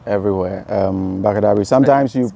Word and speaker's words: Bakadabri: Bakadabri everywhere. Bakadabri. Sometimes you spell it for us.